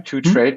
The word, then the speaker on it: 2TRDE: 2Trade, but without an A. So it's spelled the number 2 and then TRD.